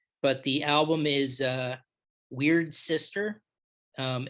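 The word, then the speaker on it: Wyrd Syster: the album is uh weird sister um it's spelled uh y r d s y s t e r but it's pronounced weird sister um and we're just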